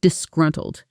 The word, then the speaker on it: disgruntled: And finally, for people who don't hide how they feel, who show visible annoyance or displeasure openly, we have the word disgruntled.